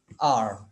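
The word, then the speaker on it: hour: आवाज नहीं देता ये एच जो है, हा आर में अपनी आवाज नहीं देता, हार नहीं कहते हम इसको हार नहीं कहते, बल्कि इट is pronounced as एन आर, आर, यानी आपको जो आपकी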